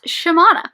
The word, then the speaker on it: Shimana: our main character who i've been saying her name wrong the entire time um it's shimana so shimano in the first book